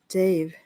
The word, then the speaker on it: Dev: The word Dev rhymes with save. Dave. Oh, okay. I would have always heard it like Dev, not like Dave.